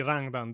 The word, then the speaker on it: Rangdan: This force would be apocalyptic in power and more than capable He pronounced decently Rangdan this time, so there has been a bit of an evolution.